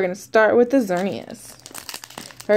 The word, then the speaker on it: Xerneas: to start with the xerneas all right someone call it X Ernest I know I can't